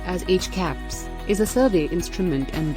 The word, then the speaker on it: HCAHPS: CHIPS, pronounced as HCAPS, is a survey instrument and data collection methodology for measuring patients' perceptions of their hospital experience.